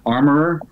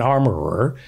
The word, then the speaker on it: armorer: it pronounced armorer yeah armorer or the piece of furniture in your house would be an armoire an armorer you're a prop master